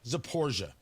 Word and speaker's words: Zaporizhzhia: Then you have Zaporizhia, which is, it's not an easy pronunciation, Zaporizhzhia. So it's either Zaporizhia or Zaporizhia. I believe it's just pronounced Zaporizhia.